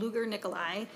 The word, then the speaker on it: Luger Nikolai: My name is Luger Nikolai, and I'm an attorney for Education Minnesota.